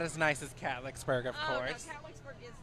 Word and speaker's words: Catlettsburg: My mama was a Catlettsburg girl.